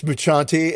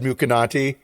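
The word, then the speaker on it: Mucciante: you laughing at me because it's muchanti and you almost said mukanaty oh i don't know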